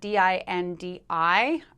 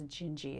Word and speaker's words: Dindi: jinji which is spelt d-i-n-d-i um it's pronounced in portuguese as jinji instead of dindi um this is from the intro or the verse to the song jinji where she goes skye's